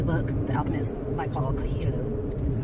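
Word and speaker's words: Coelho: This weekend was book club meeting, and we read the book, The Alchemist by Paul Cohelo. That's how you pronounce his name.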